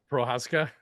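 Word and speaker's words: Procházka: Prochazka. I Yeah. finally figured it out. I wrote Nice. it phonetically this time.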